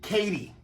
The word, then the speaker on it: Katy: The railroad was commonly called the MKT, but everyone pronounced it Katy.